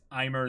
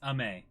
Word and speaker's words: Aimer: so so yeah wait is I'm her the wrong way to pronounce it aimer or aimer really Oh cuz it's yeah it's French oh ma it's ma oh okay cuz it it